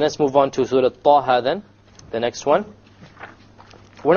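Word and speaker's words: طه: Okay, both of them are two harakas long. So we pronounce it Taha, Taha.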